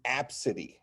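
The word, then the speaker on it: Abcde: And the parent got upset and said, it's Apsity. That's how you pronounce it, Apsity.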